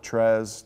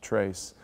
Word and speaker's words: Tres: some people call it Trez tray but it is the spanish pronunciation trace great kid and you